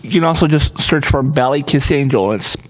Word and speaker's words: Ballykissangel: You can also just search for Ballykissangel. It's spelled like it sounds.